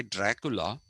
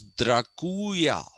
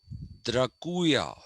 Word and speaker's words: Dracula: story, Dracula, which is, we say Dracula, but the pronunciation is, he was a count, which is a nobleman's, what should I say, uh, designation. And it was Draculia, not Dracula, Draculia. Okay, Count Draculia was originally a crusader.